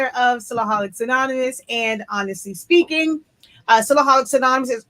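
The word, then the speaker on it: Spinkin: product line honestly speaking it is spelled s p i n k i n but it's pronounced speaking because if you don't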